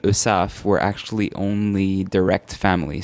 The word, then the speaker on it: Heussaff: April Our Guest is irwan USAF is the correct correct pronunciation now during the commercial break I was asking is it really husa I'm sure that there's a there's a French way the real way of saying your name and we're it up soan the the AG of silent the H is silent correct USF USF and is